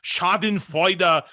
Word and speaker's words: schadenfreude: in this schadenfreude i'm sorry i have to pronounce the words correctly shot in fighter way that's just very it's camaraderie and i